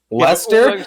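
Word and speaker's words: Leicester: makes no sense how it's pronounced lester how the do you spell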